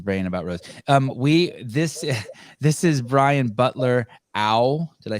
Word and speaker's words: Brian Butler-Au: This is Brian Butler-Au. Did I say it right? Brian Butler-Au?